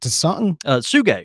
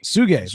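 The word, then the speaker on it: Tsuge: He says all the Monster series, specifically the non-aromatic from is it Tasung? Suge. Thank you. There's no way I was going to pronounce that.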